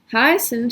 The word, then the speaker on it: heißen: So this EI is pronounced I, like an Einstein, and then this IE is pronounced E, like in Liebe.